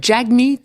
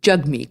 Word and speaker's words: Jagmeet: pas Jagmeet, c'est Jagmeet. Exactement. C'est jug comme hug en anglais.